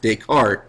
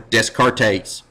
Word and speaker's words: Descartes: always tell my students the way to remember Renee deart his name is correctly pronounced deart is that deart deductive or dcart deductive don't go around saying Renee decart or Descartes but it might help